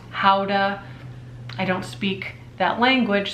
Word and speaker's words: Gouda: I've got some pottery it's actually Gouda pottery pronounced howda it's Holland it's Holland